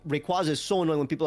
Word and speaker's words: Rayquaza: I'm incorrect like for example uh Rayquaza it's Rayquaza 100% and it makes sense people are annoying like but it's a quazar so like but like Rayquaza is so annoying when people like oh it's